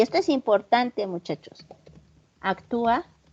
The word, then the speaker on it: actúa: esto es importante, muchachos, actúa, lleva acento en la U, ¿sí o no? En la A. Corrijan mi ortografía, que ya se me fue. En la U, ¿verdad?